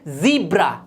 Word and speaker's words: ज़ीब्रा: बिल्कुल गलत, ये होता है ज़ीब्रा।